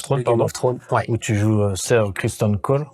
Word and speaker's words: Criston Cole: pardon où tu joues christon Cole c'est ça je prononce bien c'est exactement ça sir christon col donc